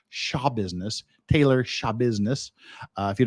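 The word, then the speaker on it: Schabusiness: printed i found out she pronounces it shaw business taylor shaw business if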